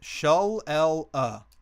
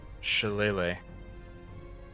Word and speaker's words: shillelagh: Yeah, it's Gaelic, but it's pronounced Shillelagh.